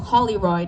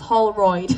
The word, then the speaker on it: Holloid: I always say your name wrong, Paul Hollyoid. It's Holloid, but I I see it as like Holly Oaks. I don't know. It's Holloid.